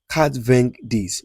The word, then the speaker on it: quatre-vingt-dix: So, in in 90 in French, what you're going to say is that quatre-vingt-dix. You know, 80 is quatre-vingt. That is four 20s, abi?